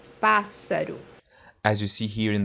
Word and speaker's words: Pássaro: The example that we have here is the word bird, which means Pássaro. Pássaro. as you see here in the word, the digraph SS is pronounced as S. Pássaro.